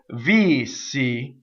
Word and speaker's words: Vissi: speak you can hiss this s is a double s VC when you sing you have two separate so the first note is all V and the second note is all C so V C okay so how you